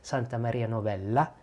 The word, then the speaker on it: Santa Maria Novella: 1200s, Santa Maria Novella, I should say it like the Italians, Santa Maria Novella, Farmacia, I saw that Santa Maria Novella had Carta d'Armenia.